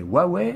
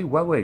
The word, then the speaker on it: Huawei: en france voulait prononcé huawei et vous prononcez huawei j'en ai rien à battre voilà c'est moi je vous donne la prononciation originale de la marque originale qui est chinoise voilà maintenant c'est tout